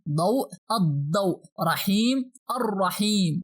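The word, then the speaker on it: الرحيم: Here we only pronounce the first letter of al, that is alif, and we skip the lam to pronounce directly the sonar letter. But pay attention, we must pronounce the sonar letter after al with some pressure. Means we have to put shadda above it.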